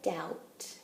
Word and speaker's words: doubt: There is no doubt, I knew it was wrong. Let's look at the very first line. There is no doubt. I don't hear that B, so I'm going to go ahead and underline B and T.